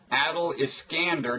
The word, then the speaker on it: Adel Iskandar: Bob right blogging heads TV and you are Adil is skander did I pronounce that right absolutely perfectly okay and um